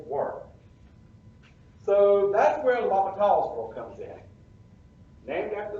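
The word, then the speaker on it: L'Hôpital: so that's where the lava talls world comes in named after the french mathematician um and so that's why it sounds french paul's rule so the h is silent and yes there is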